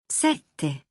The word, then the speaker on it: sette: For more, hold the doubled letters in set and otto. Don't rush them. Sette, otto, nove, dieci.